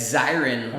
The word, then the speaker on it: Zirin: dave dave is it zirin zirin i see it says somebody's face yeah it's siren like a fire siren although i never get